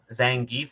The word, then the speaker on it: Zangief: Yeah, um, Cammy and Zangief.